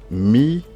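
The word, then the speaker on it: מקדם: On a la lettre Kof, on a le Ségol et on a le Dalet, on a le E, on a le même. Donc ça se lit Mi-ke-dem.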